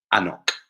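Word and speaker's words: anCnoc: operates under the name anok so it's pronounced there's a silent c in there and it's uh an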